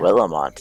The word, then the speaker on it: Willamette: Willamette is how that's pronounced.